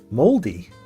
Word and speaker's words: Māori: You say like mouldy bread, so mouldy. Moldy.